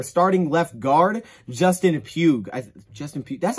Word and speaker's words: Justin Pugh: off with their starting left guard justin pugh justin p that's how you say it right yeah yeah